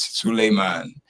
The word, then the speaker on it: Suleiman: Solomon, which is the Bible in Hebrew language, is Solomon. In Arabic language, is Suleiman.